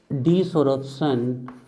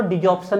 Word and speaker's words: desorption: adsorption of reactants and desorption and desorption। कई लोग उसको डिजॉर्प्शन भी पढ़ते हैं, आर को साइलेंट कर देते हैं, है ना।